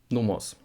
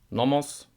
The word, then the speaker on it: Nomos: Easy one, Nomos. Not Nomos, but Nomos. Nomos.